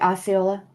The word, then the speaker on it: Osceola: I don't know how to say that right, but you're saying it right, Osceola.